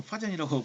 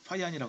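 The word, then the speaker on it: Fajans: 근데 파이안이 여러분 파잔이라고 발음하면 약간 촌스럽습니다. 파이안이라고 합니다.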